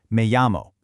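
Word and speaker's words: me llamo: Now, that double l makes a y sound, so listen close. It's pronounced me amo.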